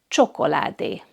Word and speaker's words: csokoládé: It has the ch sound, like in the English word cheese or church. And the word for chocolate in Hungarian is csokoládé.